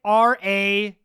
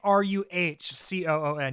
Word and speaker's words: raccoon: We're saying it RACOON. You're saying RUHCOON.